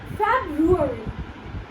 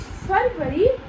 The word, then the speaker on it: February: Well, it is February. Now over here, you might say it February, but it is wrong.